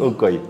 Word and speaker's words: Ukoy: Ma prononciation est bonne, c'est Ukoy ou Ukoy. Ukoy.